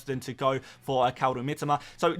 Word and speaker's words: Kaoru Mitoma: the Japanese culture, and I am pronouncing it in the correct Japanese way. So yeah, Kaoru Mitoma, that is how you say it, and that is a player who you should definitely be keeping.